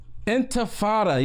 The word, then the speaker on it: intifada: Intifada, yes, thank you so much, against Israel?